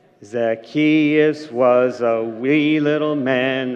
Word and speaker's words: Zacchaeus: And it's Zacchaeus. I think you pronounced it correctly.